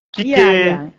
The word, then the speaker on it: Kike: Berarti jadi bacanya tetap seperti baca bahasa Indonesia ya? Kike Wadatsumi no Koe. Oke. Seperti itu tepat.